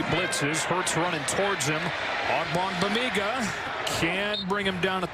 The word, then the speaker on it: Ogbongbemiga: Maybe your favorite name to pronounce this season? Once you get it down, it's a fun one. Ogbongbemiga. Ogbongbemiga.